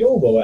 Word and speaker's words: Jovo: Nobody can pronounce it. So I started calling him Yovo after that.